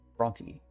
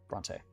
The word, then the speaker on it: Brontë: Bronty. That's not how you say it. Bronte.